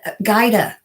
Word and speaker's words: Gaida: Gilda said, Gaida. I am so sorry. I want to say Gilda because that's just more familiar, but Gaida, thank you. She told me how to say it.